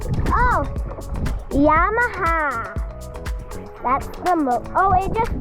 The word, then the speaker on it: Yamaha: How do you pronounce the motor name? Oh, Yamaha.